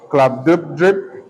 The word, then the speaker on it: Glubbdubdrib: Part 3 is entitled A Voyage to Laputa, Balnibarbi, Lugnak, Club-Dub-Drip, and Japan. Balnibarbi is spelled Balnibarbi.